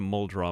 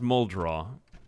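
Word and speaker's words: Muldraugh: so good uh unfortunately that's a mole draw map it is pronounced muldraw i pronounced that wrong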